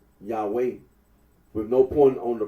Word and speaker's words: Yahweh: for the name yah the scholarly consensus that the original pronunciation of the Tetra gron was yahwe arino agrees that when